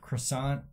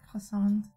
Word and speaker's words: croissant: Oh, you want to talk smack about my pronunciation of croissant, but you can't say occur? Croissant. It's not croissant. When you're in America, you say croissant. But the T is silent.